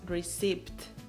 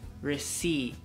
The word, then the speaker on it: receipt: Y normalmente decimos receipt. Sí, pero la P es muda en esta palabra, entonces lo pronuncias receipt.